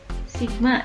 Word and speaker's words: Sigma: matematis dapat dituliskan dengan nah ini dibacanya Sigma ya Sigma f = m *